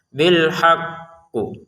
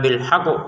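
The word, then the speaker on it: بِالْحَقِّ: Kalau kita berhenti di sini, maka untuk kata alhaqnya kita tekan dulu baru kita pantulkan. Jadi tasdidnya dulu kita baca baru pantulannya qof kita keluarkan. Bilhaqqu. Begitu caranya. Jangan sekedar bilhaqu gitu ya. kan ada tasdidnya jadi beda cara bacanya bilhaqqu gitu gitu ya kalau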